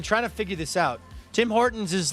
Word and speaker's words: Tim Hortons: Tim Hortons, not Tim Burton. Tim Hortons. Tim Hortons. Sorry. Hey, be proud. I at least got the last syllable right.